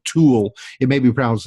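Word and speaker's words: Thule: pronounce that correctly or somebody who who speaks German would probably have a better grasp on how the name is pronounced but say like toward tool it may be problems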